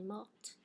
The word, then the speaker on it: morte: So past participle, if you have a final T, it's silent. And now all of a sudden I'm going to pronounce it because now I have an E after my T, right?